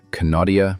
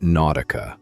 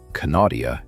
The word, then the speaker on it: Knautia: It is the plant almost nobody pronounces correctly on first encounter. The first time I read the name on a nursery tag, I called it nautica, like the clothing brand.